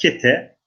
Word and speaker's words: Kete: Koyunhisar önünde Kite şeklinde de telaffuz var. Fakat Kete, Etranos, Kestel.